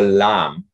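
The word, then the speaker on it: lame: i haven't made one is a lam uh it's called sl it's spelled l-a-m-e and that is used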